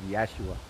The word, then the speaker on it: Yeshua: I think it's said Yeshua. Like Joshua, Yeshua.